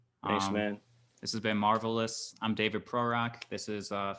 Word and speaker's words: Marv Ellis: at Marv Ellis, and it's abbreviated like Marv OHLIS because of I wanted people to know how to pronounce my name, like Marv Ellis. Yeah, Marv Mm, Ellis. Yeah, but marvelous.